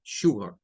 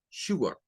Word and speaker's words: sugar: también para la azúcar Esta que está aquí es más la pronunciación británica porque no tiene la r Recuerden que en el inglés americano se le agregaría la r y Sugar Sugar como la canción y